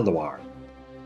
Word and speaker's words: Loire: one is called la luar although the word loire is pronounced exactly the same for both rivers one is spelled with